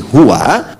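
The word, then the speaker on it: هو: Nah Hua itu kalau kita ingin berhenti di Hua maka a-nya enggak dibaca u contoh ayat kursi Albaqarah ayat 255 Allahu la ilahailla hu hual hayyul Qayyum itu kalau nyambung Kalau berhenti di hu bacanya hu jangan dulu ke situ Ali Imran misalnya ayat yang kedua setelah alif lam m Allahu laaha kalau kita berhenti di Hua hu jadi baca Hu itu disingkat dari Hua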